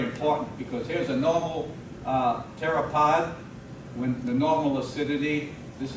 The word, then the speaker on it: pteropod: notice we pronounce it pteropod even though it begins with the letter p something like psychiatrists psychiatrists begin with the